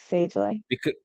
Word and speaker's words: Sagely: She is the founder and CEO of Sagely. Did I say it right? Sagely, right? Yes, Sagely.